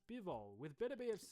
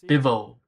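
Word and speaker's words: Bivol: Another interesting potential name though is Biv. Bivo. Bivo. I said his name wrong.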